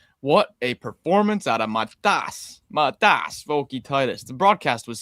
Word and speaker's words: Matas: What a performance out of Matas Vokietaitis. The broadcast was saying his name wrong all night.